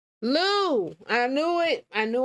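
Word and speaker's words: Lieu: that black people are stupid and will not Lou I knew it I knew I said it right and one of them Lou Ted Lou okay shoot the full clip in its entirety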